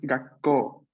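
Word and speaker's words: がっこう: Ga, pequeño tsu, sílaba ko, y luego vocal u. Entonces, pequeño tsu está antes de ko, es gakko.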